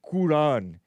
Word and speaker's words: Quran: anti-Christian, officially switched to Quran, Quran, in 2000 to prioritize closeness to pronunciation, blah, blah, blah, blah, blah. And some of them even put Qur''an. The apostrophe showing the glottal stop.